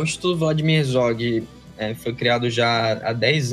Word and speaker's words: Vladimir Herzog: Como é que pronuncia? Isso, é isso mesmo. Instituto Vladimir Herzog.